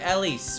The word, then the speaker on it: Elise: Sorry, Elise with an S, but I don't pronounce the S when I say her name, chat. But you have to because there is an Ellie. I know. But I will never pronounce the S when I should, and I will always call her Ellie.